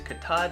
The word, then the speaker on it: Katahdin: Well, uh, we raise katad and sheep and, uh, that's spelled K A T A H D I N. I I've heard of that. I've seen that spelling. That's Katad.